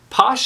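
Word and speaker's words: Pausch: the last lecture by Randy Posh I think is how you say his name this is kind of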